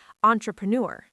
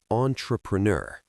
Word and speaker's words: entrepreneur: Entrepreneur. That's a French loan word, so the pronunciation is a bit tricky. Entrepreneur.